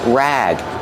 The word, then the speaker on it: rag: Pronunciation rag. Use a short a sound like black cat.